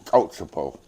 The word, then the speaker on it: Coatsapo: It's Coatsapo. Coatsapo. Coatsapo, yeah. Wow. And that's how you say it in Kiowa.